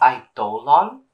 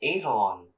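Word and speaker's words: Idolon: can't communicate exactly and it's pronounced as I dolon I thought it was Adon bro I'm gonna say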